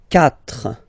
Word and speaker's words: quatre: Quatre. Quatre. Okay, so remember that even if you get this u vowel here, basically you don't pronounce it, because that's the rule in French.